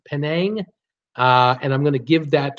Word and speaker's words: Penang: it's 21st busiest in the world it's pronounced pronounced Penang and I'm gonna give that to whoever gave